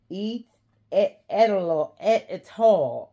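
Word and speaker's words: Étoile: out right now um the monogram e at all at all at at e t o um e t o i l e City GM so I was pronouncing it wrong the first time it and I I'll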